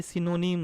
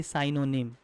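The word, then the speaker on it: synonym: और एक और चीज़ की ये सिनोनिम है, क्या बोलोगे, सिनोनिम, ना कि साइनोनिम। ओके, प्रोनाउंस अच्छा से कीजिएगा, सिनोनिम नॉट साइनोनिम।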